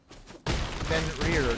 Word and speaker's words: Fenrir: We have another Summon Fenrir if we need it.